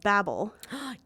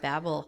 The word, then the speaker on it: Babel: One of them is an English like pronunciation. So if you actually listen to the audiobook, it'll be pronounced with the English pronunciation, whereas most Americans are probably going to pronounce it Babel.